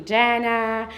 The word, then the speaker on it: Jana: It's uh I think part of the experience and you cannot teach everyone how uh to pronounce J as Y as in my culture but I came from Serbia and some uh funny story from there.